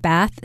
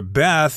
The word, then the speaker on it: Bath: Indeed, and I should also mention that Bath is the American pronunciation. If you're talking to someone from England, they're likely to say Bath, the city of Bath.